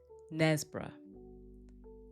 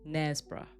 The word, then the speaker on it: Knaresborough: The K is silent. What do you think? That's right. Nesbra. Nesbra.